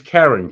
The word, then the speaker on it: Karin: So, but it's Karen. Karen is the appropriate It's pronunciation.